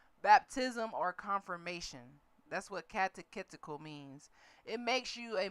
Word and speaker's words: catechetical: Catechetical. Come on, tell me how to pronounce it.